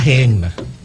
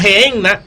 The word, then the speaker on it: Gehenna: algo que llamaban la gehenna. ¿La qué? Gehenna. Gehenna. Se pronuncia gehenna, ¿verdad, pastor?